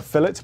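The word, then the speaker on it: fillet: weighs 175 G also yes we call this a fet burger not a filet burger that extra l in there when we spell it makes a difference what about fries well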